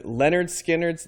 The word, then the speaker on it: Lynyrd Skynyrd: We're going to be doing Lynyrd Skynyrd's debut album, pronounced Lynyrd-Skynyrd, just in case you were wondering how that would be pronounced.